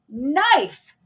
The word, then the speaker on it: knife: the p is silent knife the K is silent wife the husband is